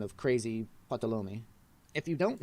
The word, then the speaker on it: Ptolemy: and it gave it this name of crazy patalomi if you don't name it's pronounced ptolemy in your images docker will name them for